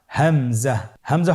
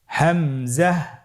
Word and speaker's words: হামজা: হামজা পরবর্তী হরফটির নাম হামজা হামজা হরফটি উচ্চারণের ক্ষেত্রেও বারিক করে উচ্চারণ করতে হবে এবং এখানে টেনে পড়া যাবে না দ্রুত পড়তে হবে আপনারা আমার সাথে বলুন হামজা জাহ হামজাহ হামজা হরফটি উচ্চারণের স্থান